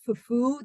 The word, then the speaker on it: fufu: in West African languages fuu the accent is on the U part um so there's a